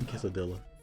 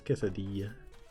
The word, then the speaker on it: quesadilla: Well, I speak Spanish. Why am I saying quesadilla? It's quesadilla.